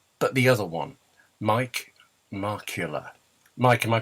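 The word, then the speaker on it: Markkula: The Apple Marketing Philosophy, written in 1977 by not Steve Wozniak, not Steve Jobs, but the other one, Mike Markula. Mike, am I pronouncing that correctly?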